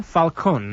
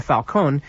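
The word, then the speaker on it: Falcón: Alberto Cecilia Falcone, the last name is spelled s i c i l i a dash f a l c o n, like falcon.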